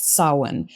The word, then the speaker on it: Samhain: for the holiday that looks to me like Samhain, but I believe is pronounced Samhain.